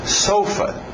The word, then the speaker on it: sofa: outra palavra para dizer sofá também, que é até fácil lembrar. Talvez, tem que tomar cuidado com o ritmo. Sofa. Mudar o ritmo e não sofá, ficar sofa.